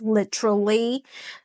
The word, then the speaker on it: literally: I know in British or Aussie English, it's pronounced literally. Um, but in American English, the T kind of change it to like a duh sound.